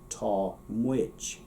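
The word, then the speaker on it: tá muid: Tall mwich. You'll notice that one has, it's not really a D, it's not really a J, it's sort of the two of them together. J-j. Tall mwich.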